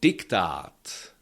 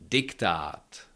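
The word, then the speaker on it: diktát: Also diktat, diktat. Yeah, again, there is měkké I after D, and this D is not pronounced as J.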